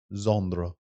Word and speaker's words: Xandra: Xandra. Oh, Xandra. X A N D R A. That's a very British thing. Zand Zandra.